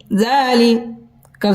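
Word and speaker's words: ذَٰلِكَ: রাদিয়াল্লাহু আনহুদু রাদিয়াল্লাহু আনহুদু জাল খারা জবর জ লামজলি জালি কাফ জবর কা জালিকা জালিকা লাম মন জবর মান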